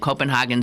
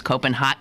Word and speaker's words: Copenhagen: to the city as Copenhagen. Well, I just did. Copenhagen rather than Copenhagen. The Danes don't like the pronunciation Hagen. It is the way Germans pronounce the city's name, and they don't like the Germans.